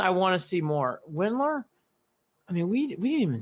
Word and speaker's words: Windler: okay now to the other guy remember dylan willard when windler i came pronounced his name has been so long dylan windler he hasn't played basketball in a long time